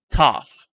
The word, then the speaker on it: tough: that is tough and even though you see here at gh the pronunciation is like f it's tough unforgettable something that you